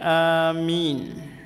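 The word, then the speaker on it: آمين: Yang pertama dibaca dengan dipanjangkan kata a sehingga menjadi amin.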